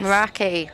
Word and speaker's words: Meraki: Meraki. Sounds like maracas. That's how I remember.